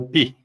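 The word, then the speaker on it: πῖ: omicron agora era o pi pi som de p é o PI é p né então ele tem o som de pi né e o som de Pi da palavra pipoca pipoca né quando a gente lembra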